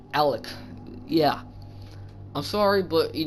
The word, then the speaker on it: Alek: it's spelled uh his his name is spelled a l e k Alec yeah I'm sorry but